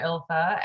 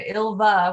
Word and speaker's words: Ilva: she accepts both versions mike used to call her ilfa and ilva with the v is how it's correctly pronounced but she she will